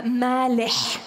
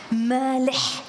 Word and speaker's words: Maleh: Und mein Name ist ein arabischer Name und wird im Original natürlich auch arabisch ausgesprochen. Also wenn Sie mich korrekt aussprechen wollen, mein Name ist Nadja Malech. Malech. Also M-A-L-E-H, das H hinten ist ein Ech.